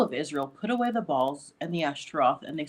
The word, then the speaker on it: Baal: refers to him as Baal, as sometimes people pronounce it, but in Hebrew you'd pronounce it Baal.